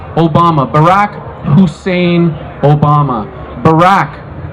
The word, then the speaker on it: Barack: Obama Barack Hussein Obama Barack kind of rhymes with Iraq Hussein we all know